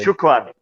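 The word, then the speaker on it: شكرًا: What's the pronunciation of that S word? Shukran.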